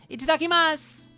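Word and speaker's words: いただきます: They don't pronounce the U, do they? Itadakimasu.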